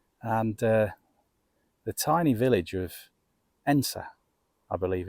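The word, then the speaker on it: Edensor: the tiny village of Ensa, I believe it's called. It looks like Edensaw, but I later found out that the pronunciation was Ensa, I believe.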